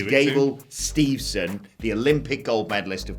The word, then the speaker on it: Gable Steveson: about gable steve's son i keep getting his name wrong i keep calling him gabriel stevenson his name is gable steveson the olympic gold medalist